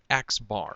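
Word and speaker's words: x̄: going to use for the mean will be xbar and that's how you pronounce it literally xbar um it doesn't always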